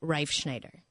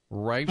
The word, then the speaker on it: Reifschneider: I think the real pronunciation is Reifschneider. Reifschneider.